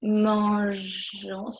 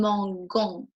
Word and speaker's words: mangeons: And then for nous, because of pronunciation reason, if we add only O and S, it was nous mangeons. Hope you remember that. So we had to add an E, okay?